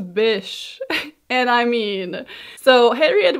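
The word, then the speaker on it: Bysshe: and Percy Shelly whose middle name is conveniently pronounced as Bish and I mean so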